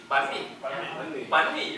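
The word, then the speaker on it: bánh mì: How do you pronounce it? Banh mi.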